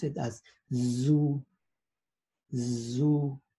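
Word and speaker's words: zu: we pronounce it as zoo zoo right if it were written with an s we put we pronounce it su su but since this is a z we pronounce this as zoo one more time zoo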